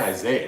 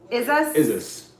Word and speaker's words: Isis: It's not Isaiah. It's S-I-S. Someone said S-I-S. Pronounce Isis.